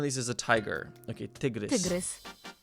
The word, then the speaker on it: tygrys: Okay, tygrys. Tygrys. Sounds like take a look at this.